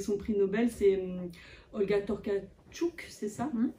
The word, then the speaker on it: Tokarczuk: c'est bah, avec son prix Nobel, c'est Olga Tokarczuk, c'est ça? Tokarczuk, pour bien prononcer.